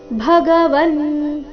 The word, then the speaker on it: ಭಗವನ್: ಎರಡು ರಸ್ವ ನಹಿತೆ ಭಗವನ್ ಭಗವನ್ ಭ ಇಲ್ಲಿ ಮಹಾಪ್ರಾಣ ರಸ್ವ ಭ ಬೇಡ ಭ ಎಂದು ಬರಬೇಕು ಭಗವನ್ ವ್ಯಕ್ತ್ಯವ ಅನುಸ್ವಾರದ ಉಚ್ಚಾರಣೆ